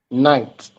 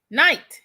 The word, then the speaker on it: Knite: that I forgot to ask him how you pronounce his middle name. Now, he's a street. It's what? Knite. Oh, Knite.